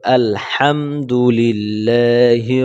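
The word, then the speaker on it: الْحَمْدُ لِلَّهِ: আমরা এখানে আলহামদু বলি এখানে হামদু বলা যাবে না হা চিকন করে বলতে হবে ঠিক আছে এটা হলো চিকন হা এটা হাঁ বলতে হবে কি আলহামদুলিল্লাহি রাব্বিল আলামিন এখানে আলামিন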